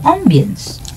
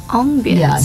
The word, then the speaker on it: ambience: yes this is the ambience Ambience the pronunciation here listeners it's not Ambience it's Ambience I'm obviously asked to